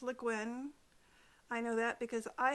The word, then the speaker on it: Le Guin: name so often that she has a page on her website that explains how to pronounce her name it is le guin i know that because